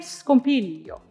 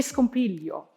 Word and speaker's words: scompiglio: Che scompiglio, che flagello, and also a mi scanna. So be sure to clearly articulate this rhythm and do not be sloppy and iron out the rhythm by going che scompiglio, che flagello, but rather che scompiglio, che flagello.